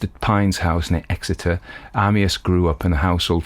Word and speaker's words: Amyas: So Amyas Northcote pronounced Amyas, I think.